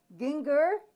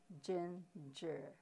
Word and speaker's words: ginger: so we have Jen chieh so instead of Ginga it's ginger instead of killed it's sent now s with a sound of it's pronounced as Posie also when you when you